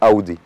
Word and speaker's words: Audi: في ناس بتقول على الاودي اودي، هي ما فيهاش مشكله، لكن الكلمه الصح والنطق الصح لاودي هو اودي مش اودي، لان الكلمه دي كلمه المانيه، والنطق الالماني الصح هيكون اودي.